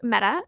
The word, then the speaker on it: Mette: So yes, it is pronounced Meta, M-E-T-T-E. Someone please correct me if I'm wrong. I looked up on several different places and this is the pronunciation I could find. So it's a little confusing for my brain because it looks like Medi, but it's actually Meta.